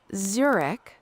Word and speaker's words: Zurich: Could you repeat the pronunciation of these two words, these two universities? Sure thing. It's Zurich. Z U R I C H.